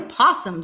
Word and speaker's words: possum: mouth frog I'm a possum said possum and I eat blossom loose opossum rhymes with blossom well i'ma say it